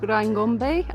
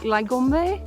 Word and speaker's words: Ryangombe: There was a folk god, or a folk hero, called Ryangombe, um, that's how you pronounce it in English, but in Kinyarwanda it's, I think, Lygombe, but I cannot pronounce it to save my life and everybody laughs when